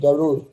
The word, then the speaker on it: गरुड़: bird को कहते हैं अंग्रेजी में लिखते हैं गरदा आपने सुना हो किसी एयरलाइन का भी ये नाम है गरदा लद हमारे जो इंडियन दोस्त है वो इसको प्रोनाउंस करते हैं गरुड़ अंग्रेजी में ड़ है ही नहीं तो गरुड़ इस तरह कुछ कहता है मेरा दोस्त द सी